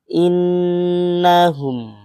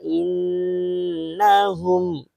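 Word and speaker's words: إِنَّهُمْ: Artinya kita bacanya juga itu harus nih innahum ya. Jangan dua ketukan yang baca biasa ya, tapi dua ketukan yang bacaan dengung. Ala innahum seperti itu ya.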